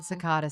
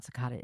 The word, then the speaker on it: Secada: John Cicada saying, "Oh, holy night."